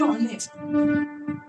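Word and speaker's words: honest: অনেস্ট। আমরা কি বলছি? অনেস্ট। কিন্তু এই যে অনেস্ট আমরা বলছি মানে উচ্চারণ শুরু হচ্ছে ও থেকে বাবা তাইতো তাহলে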